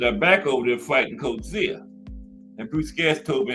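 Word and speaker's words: Coetzee: So, let's get to the uh Coach Zia fight. And that's how you pronounce that cuz M gas told me that.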